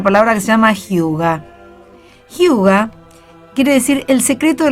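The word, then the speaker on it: hygge: palabra del año 2006 que se pronuncia huga es un concepto que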